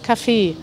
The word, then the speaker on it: Café: dem man Kaffee trinkt, da benutzen wir tatsächlich die französische Schreibweise mit C und einem E und einem Akzent am Ende und das spricht man das Café aus.